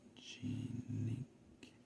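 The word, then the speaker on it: Zoe-Jeanneke: Zoe dash Jean, like Jean, pair of jeans, just without the S.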